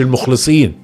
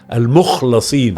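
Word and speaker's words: المخلَصين: مش المخلصين، انطقها صح، المخلصين اللي ربنا خلاه مخلص. هو مش مخلص، هو مخلص.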